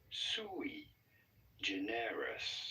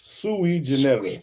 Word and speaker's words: sui generis: So how do you go about pronouncing it? Sui generis. Sui generis.